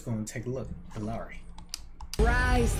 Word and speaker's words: Illari: I butchered it when I started because, you know, I went with the basic English pronunciation. But Illari.